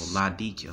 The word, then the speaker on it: Laodicea: Okay, so Laodicea. All right, so that's how you pronounce it correctly.